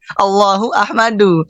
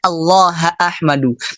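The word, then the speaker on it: اللهَ أحمدُ: kurang lebih seperti ini allaha ahmadu allaha kalau kita teman-teman mungkin kalau enggak dikasih harakat pasti bacanya Allahu ini mutada kan Allahu ahmadu Allahu ahmadu tapi keliru yang benarnya allaha ahmadu maf'ulnya dimajukan Untuk apa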